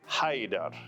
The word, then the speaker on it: Haider: Haydar.